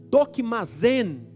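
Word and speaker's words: δοκιμάζειν: O verbo grego, cuja pronúncia é mais ou menos dokimazen, é o que embasa o discernimento aqui, e embasa o experimenteis lá em Romanos 12, 2.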